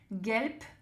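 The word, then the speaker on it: gelb: Gelpe gelpe jaune. Attention vous entendez bien quand je dis gelp. En fait à la fin on a le B qui se prononce P hein.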